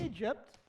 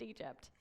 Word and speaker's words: Egypt: people the Israelites lived as slaves in Egypt Egypt good job but it's pronounced Egypt the Israelites were slaves in Egypt but then